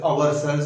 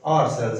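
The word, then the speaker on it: ourselves: हमारे पाकिस्तानी उसे आवर सेल्स भी कहते हैं, which is wrong, आर सेल्स actually इसको प्रोनाउंस किया जाता है।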